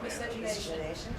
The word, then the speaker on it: miscegenation: Miscegenation? Say? Miscegenation? Miscegenation.